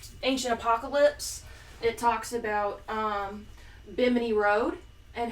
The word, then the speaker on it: Bimini: watch Graham Hancock's Ancient Apocalypse, it talks about Bimini Road and how it goes right off of